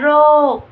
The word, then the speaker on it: โรค: ค ควาย นะ คะ มาเรียน รู้ คำ เชื้อ โรค อ่าน ว่า เชื้อ โรค พญา นาค อ่าน ว่า พญา นาค คำ ทั้ง 2 คำ นี้ สะกด ด้วย ค ควาย แต่ จะ ออก เสียง เหมือน ก ไก่ สะกด ค่ะ และ ตัว สุด